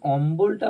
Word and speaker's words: অম্বল: যে আমি লিখেছি অম্বল কিন্তু যখন অম্বলটা উচ্চারণ করছি ব এর উচ্চারণটা আমরা পাচ্ছি দেখো অম্বল পাচ্ছি কম্বল ক এর